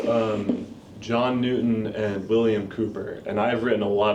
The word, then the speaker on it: Cowper: and what's his name William Cooper but spelled like Cowper like c o w p e r right he I find